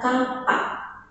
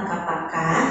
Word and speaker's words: kapak: Jadi bacaannya adalah Ya, bacanya itu adalah kapak. Kenapa bisa kapak bukan kapaka? Kalian lihat di belakang itu ada tanda adek-adek ya. Jadi adek-adek ini mengubah huruf vokal menjadi konsonan.